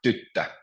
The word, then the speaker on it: tyttö: Or tyttö, which means girl, so it's tyttö. So the stress is always on the first syllable.